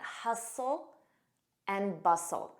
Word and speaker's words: hustle and bustle: the hustle and bustle notice that t is silent hustle and bustle hustle and bustle this